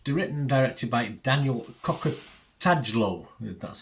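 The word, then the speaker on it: Kokotajlo: It's written and directed by Daniel Cocker-Tadlow. That's how you pronounce that.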